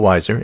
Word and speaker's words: Weiser: Well, it turns out that we we discussed that Phil Weiser, and that is the proper pronunciation of his name, beat Michael Bennett and will be the Democratic candidate for governor and the Democratic governor.